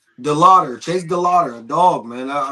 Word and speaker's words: DeLauter: Your um your your rookie How do you pronounce his last name? De- DeLauter. DeLauter.